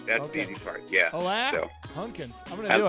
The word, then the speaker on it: Alain: It is pronounced Alain, which is a French version of Alain. Alain. And again, the name is spelled A-L-A-I-N. You don't say the N.